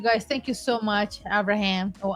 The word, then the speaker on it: Abraham: But yes, you guys, thank you so much, Abraham or Abraham in español. Abraham? Abraham. Abraham. Abraham. No, we don't. The H is silent, right?